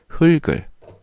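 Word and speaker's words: 흙을: 'heugeul' 이 아니라 'heulgeul' 맞죠 ? 'heulgi' 라고 발음 해야지 'heukgi' 라고 발음 하면 안 돼 요 .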